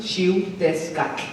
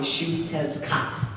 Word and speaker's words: Xiuhtezcatl: So my name is Xiuhtezcatl. Xiuhtezcatl is how you say it in Nahuatl, but most people can't pronounce that, so you can call me Xiuhtezcatl, like Xiuhtezcatl.